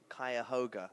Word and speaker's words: Cuyahoga: Cuyahoga. I learned that word today. Very nice. Good pronunciation.